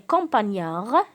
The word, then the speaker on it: campagnard: Ton campagnard. Alors, ton, qu'est-ce qu'il va devenir? Ta. Très bien. Et campagnard, aussi la lettre D ne se prononce pas.